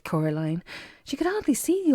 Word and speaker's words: Coraline: name wrong you know they keep saying Coraline not Caroline not Caroline at all he picked up a